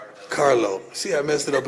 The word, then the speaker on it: Carlo: Harlo. Follow Harlo. Did I say it right? C A R Carlo.